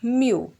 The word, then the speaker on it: mu: This is the symbol and we pronounce it as mu.